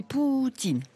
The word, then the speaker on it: Poutine: Il est d'ailleurs conseillé de prononcer Poutine.